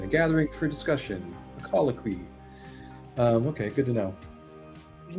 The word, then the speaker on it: Colloquy: And it means a conversation, a gathering for discussion, a colloquy.